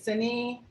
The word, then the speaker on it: Sini: Is it Sini? I know I'm saying it wrong. No, you're right. It's Sini.